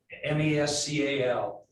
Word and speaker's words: Mescal: Mescal, just like the drink.